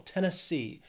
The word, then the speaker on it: Tennessee: along we have Tennessee this state has three syllables and the stress is on that third syllable that final syllable Tennessee Tennessee after that is